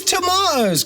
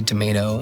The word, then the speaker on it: tomato: like, what are these tomatoes? Because obviously, Americans say tomato, and English, we say tomato.